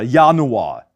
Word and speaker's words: Januar: It's always pronounced as a soft Y sound, as in der Januar, die Jacke, die Mayonnaise.